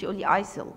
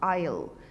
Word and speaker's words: isle: forget remember change change isil no isle isle s here is silent okay aisle isle okay